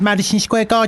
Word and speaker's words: Madison Square Garden: He's taken a New York minute to sit down and um tell us that Madison Square Garden Gardens shouldn't be pronounced with an extra S on the end of the gardens and it seems to be perhaps no garden.